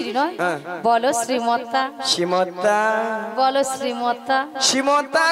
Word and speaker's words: শ্রী: ছিড়ি ছিড়ি নন বলো শ্রী শ্রী কি বলো শ্রী শ্রী সিরি আমি কি সিড়ি সিড়ি বললাম্যা বলে সিড়ি দিয়ে নামিয়ে দাও আমি বলেছি শ্রী শ্রী ঠিক করে উচ্চারণ তুমি ঠিক করে উচ্চারণ